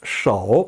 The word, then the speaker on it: 手: 시, 우 제3성으로 手 절대 수 하지 마세요. 手 라고 발음합니다.